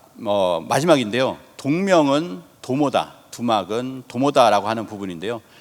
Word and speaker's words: 동명: 동명은 도모다, 두막은 도모다라고 하는 부분인데요. 동명을 도모라고 읽습니다. 도모라고 읽는다는 거죠.